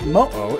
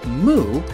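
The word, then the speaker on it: moʻo: In some languages, it's actually like a letter that means you don't pronounce anything here. And for instance, Mo-o is Hawaiian for dragon or lizard. They don't say moo or moo, they say Mo-o.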